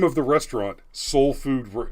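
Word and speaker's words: Seoul: name of the restaurant soul food soul food kitchen is spelled s-e-o-u-l okay i i said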